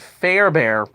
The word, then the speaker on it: Fairbairn: end, Kyrie Fairbairn, yeah, I said it right, Fairbairn, uh, hit the game-winning field goal in overtime,